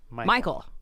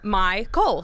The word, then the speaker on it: MyCole: pronouncing your name wrong I've been I've been pronouncing it Michael just like regular regular old Michael which if